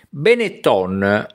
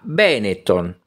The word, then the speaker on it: Benetton: ipocrisia di cattivo gusto perfino la pronuncia dei nomi del Veneto viene comunemente storpiata dalla televisione con quasi automatica supponenza Benetton diventa Benetton Coin viene pronunciato coin I Colli Euganei si trasformano in Euganei senza che nessuno dei